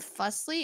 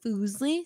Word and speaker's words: Fuslie: you ask me and you pronounce my name fussly it's actually foosly so yeah fuse fusely